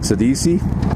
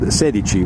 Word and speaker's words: Sedici: say it and cuz she said sadisi and it's really called sedi which means 16 in Italian so it's kind of